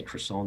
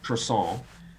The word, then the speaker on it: croissant: And I say croissant there like the Americans. Okay, it's really croissant. The Americans say croissant, and the French say croissant.